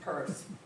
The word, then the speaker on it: Peirce: Our name is pronounced Peirce, for no explainable reason.